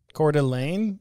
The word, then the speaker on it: Coeur d'Alene: spokane washington or spokane i think they say they pronounce it spokane they pronounce it court elaine i don't know she